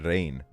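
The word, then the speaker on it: Rein: but it's so estonian his name was uh rain um which i guess sounds like rain as in like the but it isn't even spelled the same way it's r e i n um he was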